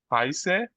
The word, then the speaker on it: heiße: হুম Wie heiße du? না না, wie heißt du? Heißt du. Wie heißt du? হুম Ich heiß না, এই দেখেন এখানে দেখেন উচ্চারণ ই আছে, লাস্ট ই আছে।